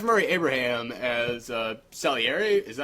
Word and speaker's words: Salieri: Murray Abraham as Salieri, is that how you pronounced it?